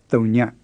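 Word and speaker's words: သုည: say zero in burmese it's thunya say that after the tape with a good strong creaky tone on there yeah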